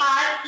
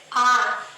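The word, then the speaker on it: are: इसे हम प्रोनाउंस करते हैं आ या फिर आर। फर्क क्या है? वही ब्रिटिश और अमेरिकन का। यूजुअली ब्रिटिश इंग्लिश में र प्रोनाउंस नहीं किया जाता। तो यहां पे आर नहीं बोलेंगे। यहां पे आ साइलेंट होगा और आ को थोड़ा खींच के बोलेंगे आ। ठीक है? और वही अमेरिकन इंग्लिश में र प्रॉपर्ली प्रोनाउंस किया जाता है तो क्या बोलेंगे?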